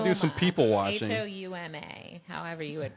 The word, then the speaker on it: Houma: So if you really want to do some people watching, Houma, however you would pronounce that. we'll have to track them down and tag them. Houma. Yeah. Homa? Houma, Louisiana.